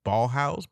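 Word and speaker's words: Ballhaus: was shot by Michael ballhouse B house ball house his name is spelled b a l l h a u s which sounds like ball house but that's just an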